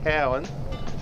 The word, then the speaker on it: Cowan: and kicking the goal i think the correct pronunciation there andrew it's cowan let's get that right